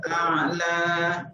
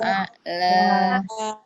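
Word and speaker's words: الأعلى: Subhana rabbiyal a'la. Ulangi. Subhana rabbiyal a'la. Ingat di alifnya, lamnya itu dipanjangkan, bukan a'la, tapi a'la. Nah, harus dipanjangkan. Ikuti. Subhana rabbiyal a'la. Ulangi. Subhana rabbiyal a'la.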